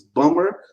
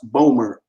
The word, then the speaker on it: Bomber: is getting crucial now sometimes it's bummer sometimes it's bombers sometimes it's how do you say it's pronounced boomer just totally exclude the